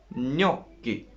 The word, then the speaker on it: gnocchi: Well, G, I said, is affecting on N. What is the effect? It makes N beautiful. How does it make it beautiful?